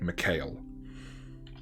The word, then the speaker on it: Michael: So, you're with your friend whose real name is Michael, but likes people to pronounce it Mikhail.